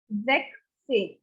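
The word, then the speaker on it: sechzehn: this and putting yellow because this spelling changes exec same now coming to 17 any idea what it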